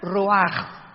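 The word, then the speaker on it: רוח: Y la palabra para espíritu en el versículo 29 es la palabra, se escribe ruach, como suena, con R de Raúl, CH al final, ruach, y se pronuncia ruach.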